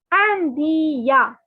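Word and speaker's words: Indien: Je suis India. Okay, yeah. The N is not to be pronounced. Okay, so it is India.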